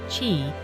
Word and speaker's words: qi: For over 2,500 years, practitioners have believed that a vital energy called qi pronounced chi, flows through these pathways.